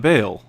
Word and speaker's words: Baal: It's I believe it's pronounced Baal.